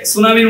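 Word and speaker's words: tsunami: এই যে সুনামি হয়েছিল ইন্দোনেশিয়ার সুমাত্রা দ্বীপে, সুনামি বানান কিন্তু টি দিয়ে শুরু হয়। মানে আপনি বলবেন সুনামি, কিন্তু তার আগে একটা টি বসায় দিতে হয়, টি তারপরে সুনামি, এস ইউ এন এম আই, সুনামি। সুনামি ঠিক আছে, সুনামির জায়গায় আগে একটা টি নিয়ে আসে।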